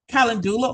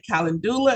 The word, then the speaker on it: calendula: Okay, calendula oil is a one. And some people will say calendula and some people say it's calendula. All right. So you have both of those pronunciations, but it comes from a sunflower.